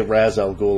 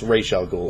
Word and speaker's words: Ra's al Ghul: I know I think they say Raz al Ghul or Raj al Ghul in the movies. I'm going by the way Tim Conway would pronounce it, and it's Ra's al Ghul, or anybody in Tim Conway's series.